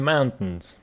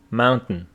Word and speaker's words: mountain: we're driving in the mountains pronunciation of the word is Mountain some students go Mountain it's Mountain there is no sound between t and n mountain mountain oh